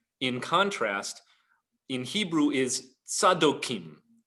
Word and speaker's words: Zadok: contrast in hebrew is sadokim those who are the followers of sadok or a guy that you may have heard pronounced in the anglicized form zedoc zedoc was a cohen